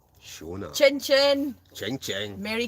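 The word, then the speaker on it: Seona: Siona, but it's actually pronounced Shona.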